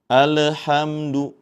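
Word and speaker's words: الْحَمْدُ: yaitu pada awal ayat ada alif lam di sini alif lam qamariyah lamnya bertanda sukun maka hati-hati Jadi jangan sampai dipantulkan juga dalam membacanya. Alhamdu seperti itu. Namun dengan cara dialirkan pertengahan karena mempunyai sifat tawas atau bainiah.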